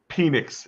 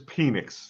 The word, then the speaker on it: Penix: Falcons just mentioned that it is pronun pronounced penix it is penix just so no way